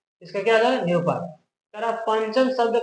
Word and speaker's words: पंचम: पंचम, देखिए बोलिए कैसे? पंचम, ठीक है? ये नहीं करेगा पम, पम नहीं होता, पंच नहीं होता, पन भी नहीं होता, क्या होता है? पंचम, ऐसे उच्चारण करके देखिए।